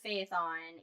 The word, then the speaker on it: Phaethon: Phaethon is how that is spelled, and that's how I'm pronouncing it. It's Phaethon.